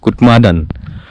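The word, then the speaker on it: Kutmadan: इसका प्रोनाउंसिएशन आप कर लो कि UTMADAN, कुटमादन।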